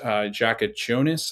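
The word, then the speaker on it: Jakučionis: Kasparis Jakachonis, I think is how you say his last name.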